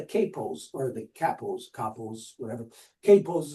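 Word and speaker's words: kapo: Capos is the most a common term, agreeable way that it is pronounced, capos, that in Nazi Germany,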